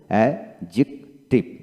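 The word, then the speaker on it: adjective: করুন ওয়ার্ড এর মধ্যে ডি যে বা ডি জি পাশাপাশি থাকলে ডি এর উচ্চারণ হয় না যেমন এ ডি জে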